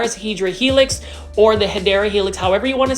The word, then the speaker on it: Hedera helix: This is a Hydra Helix. Say it with me, Hydra Helix. Okay, I'm not going to be as obnoxious today about the Hedera Helix, which is the correct way to say English ivy.